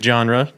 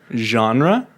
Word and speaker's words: genre: happening again what music genre describes you as a person you say genre how else do you pronounce it genre well like dijon dijon mustard uh what dijon mustard